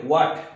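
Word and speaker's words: what: H A T এটা হোয়াট উচ্চারণ হবে আমরা বেশি করে হট বলি তো হট মানে গরম তো ওইটা হবে না উচ্চারণটা হোয়াট হবে তো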